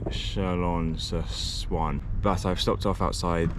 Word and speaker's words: Chalon-sur-Saône: It's Chalon-sur-Saône or something like that, not Swan, or whatever I said before.